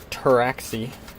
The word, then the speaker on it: Pteraxii: the body of your terraxi the t is silent just like in French now the steel and